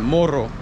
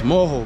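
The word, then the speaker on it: morro: have places they say they call them moho m-o-r-r-o in spanish it will sound like moro but it's moho because they don't remember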